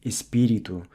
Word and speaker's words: espírito: And just as we saw earlier how words ending in to, like espírito, are pronounced with a U sound, the same goes for words ending in do, like quando.